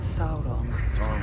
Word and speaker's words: Sauron: The eye of Sauron now turns to Gondor. Yeah. That's how you pronounce it, bro.